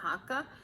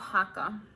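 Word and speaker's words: Haakaa: my baby on was the hakka or hakka i believe it's pronounced hakka um so how this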